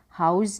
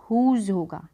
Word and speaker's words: whose: हाउस नहीं होगा, हुज़ होगा।